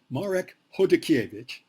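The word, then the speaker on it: Chodakiewicz: Marek Hodakiewicz, let me say his name right, Marek Hodakiewicz.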